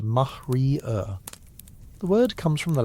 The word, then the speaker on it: maria: They're real geological features, vast ancient lava seas called Maria, pronounced mahrier.